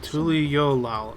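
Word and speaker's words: Tuliyollal: about tul yolal and the right of succession tul yolal okay that's how it's pronounced since we still have a long way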